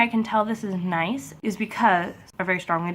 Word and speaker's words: gneiss: The reason why I can tell this is gneiss is because they're very strongly defined compared to the other metamorphic rocks out there, which makes this gneiss. And by the way, gneiss is spelled G-N-E-I-S-S.